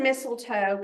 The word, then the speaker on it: mistletoe: um so the word mistletoe comes from an Old English and Germanic word so uh the last part um pronounced with an English accent I guess sounds a little bit like toe or tall tall at if